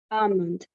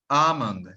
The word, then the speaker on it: almond: the second one is almond almond thank you so much because you are an English teacher the L the L in both words are silent but there is um there